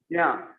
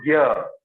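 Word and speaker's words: ज्ञ: Okay, so many people will say that you are pronouncing it wrong, but they don't know that in grammar it is Shukta Varna and it is not Gya. There is not Ga and Ya. Okay, otherwise it would have been Ga plus Ya, but it's not Gya. It's Jya.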